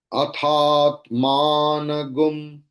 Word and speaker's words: अथात्मानगुं: So it is gum, you are seeing that ga, and above that Anushwara is there. And I told you earlier also that we Krishna Yajurvedis, we chant gum.